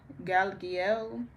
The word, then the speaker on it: Galiel: The angel assistance is archangel Galiel. This is for joy and elevating the consciousness and that's spelled G A L.